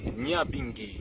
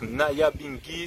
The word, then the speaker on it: Nyabinghi: Rwanda, eh bien, eux, ils le prononcent Nyabinghi. Nyabinghi. Donc, Nyabinghi, c'est le vocal anglophone de ce terme.